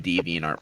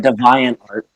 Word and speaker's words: DeviantArt: finding a bunch of deviantart porn oh god is that how it's pronounced deviant art i always call it divine art it's the divine art